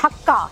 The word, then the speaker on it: Hakka: लेकिन मैंने कई लोगों को सुना है कि वो कहते हैं हक्का नूडल्स खाने, हमने हक्का नूडल्स। अरे इतना नहीं लटकना हक्के पे प्लीज़, हक्का नूडल्स। हाँ, that's the right way of saying it, क्योंकि चाइना में एक